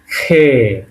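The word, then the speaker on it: Х: এটাকে বলছিলাম খে। উচ্চারণ হবে খ এর মত।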